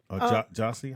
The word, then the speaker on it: Jussie: And so, what is Jesse saying? Jussie, how you say it?